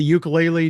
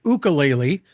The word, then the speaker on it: ukulele: Now, do you still have the ukulele? Do you still play one? I'm sorry. I I pronounced it incorrectly. It's pronounced ukulele.